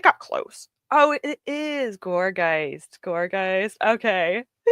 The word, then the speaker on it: Gourgeist: Oh, it is Gourgeist. Gourgeist. Okay. How do you spell it?